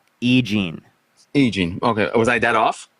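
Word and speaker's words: E. Jean: that what you're saying it's not that you don't know how to pronounce her name it's that you thought her name was Eugene okay what's her name EEG egene okay was I that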